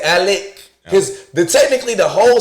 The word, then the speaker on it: Alex: The nigga name is Alec Murdaugh. Okay? Now, it's spelled Alex, but he pronounced the shit Alec.